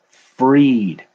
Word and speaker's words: Fried: Freed, like Kylo Ren wanting to be free of the pain. Max Fried. All right. But that's so weird. It's spelled like fried. Like if I go into a place and order fried onions, I guess I should start saying freed onions.